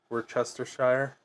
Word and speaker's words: Worcestershire: Worcestershire, which I think is the right pronunciation.